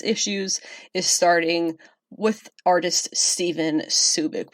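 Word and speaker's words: Stjepan Šejić: is starting with artist Stephen Subic which no is not me mispronouncing the guy whose name looks like it says Cedric this really is a different person Stefan Subic just a couple of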